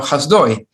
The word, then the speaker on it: Hasdai: Now we know what Ashkenazi pronunciation comes from. Hasdai is now Hasdoi. That sounds very Ashkenazi, right?